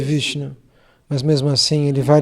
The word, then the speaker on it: Vishnu: Somebody speaking, Vishnayo is speaking, somebody speaking, this way, but still Bhagavan never mind. O Senhor Supremo não se incomoda com quem diz Vishnayo, quem não sabe pronunciar o nome de Vishnu, mas mesmo assim Ele vai lhe abençoar.